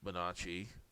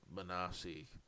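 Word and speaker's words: Bonacci: It should be Benacci, but he pronounced it Benassi.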